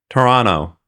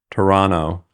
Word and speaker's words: Toronto: I just say so you're not supposed to say the T in orano well you didn't say either T there you you didn't specify which T I didn't say the second one so I feel like it's implied Toronto Toronto apparently Australians